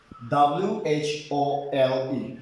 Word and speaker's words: whole: followed by vocal o the letter w will be silent in that word for example w-h-o who was silent w-h-o-s-e who's w silent w-h-o-l-e whole w is silent